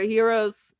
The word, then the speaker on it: gyros: Although I will say the gyros, or should I say, is it gyros or heroes? How are we saying it now? I mean, we say it gyro, but I know we say it wrong.